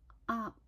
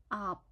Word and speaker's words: aap: For coda P, we should end the syllable by closing our lips. For example, for pronounce up. We should start with the R sound, then sharply close our mouth. Up, up. Remember, the coda P don't make any sounds at the end.